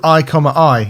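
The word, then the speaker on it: i,i: It's called I, I.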